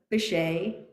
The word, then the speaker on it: Baccei: you just say it now yes it's bache you pronounce my name incorrectly in the beginning by